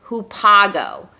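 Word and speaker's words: ὑπάγω: very specific kind of meaning the word is pronounced who Pago so maybe you can say that with me who Pago very good so this word just means go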